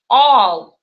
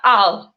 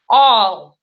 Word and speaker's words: ал: All. Обычный бы русский человек прочитал бы это просто ал. Видите? Ал. Но в татарском языке так не читается. Читается вот так произношение. All.